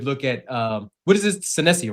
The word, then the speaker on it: Senesi: Senesi, right? That's his name. How you pronounce it? Senesi, Yeah.